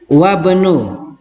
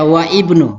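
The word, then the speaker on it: وابن: Ingat, wabnu. Naam. Bukan dibaca wa ibnu, tapi wabnu.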